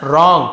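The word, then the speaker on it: wrong: Does रॉन्ग करता है, रॉन्ग यानी गलत, डब्ल्यू साइलेंट है, जैसे राइट लिखते हैं WRIGH, WRIT राइट, तो ये वाला जो WR एक साथ मिलेगा तो डब्ल्यू साइलेंट, केवल रॉन्ग पढ़ना, वो रॉन्ग नहीं पड़ेगा, रॉन्ग ये साइलेंट लेटर है।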